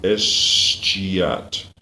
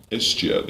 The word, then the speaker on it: escheat: That's maybe where some of our parks come from the escheat. And what is the word escheat? It's let me hear. It's from the word cheat. Escheat. It's from the modern one cheat.